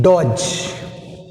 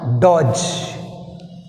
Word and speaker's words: dodge: See here, next one, dodge. 31 left. Word what? Dodge. Dodge which is silent? D is silent.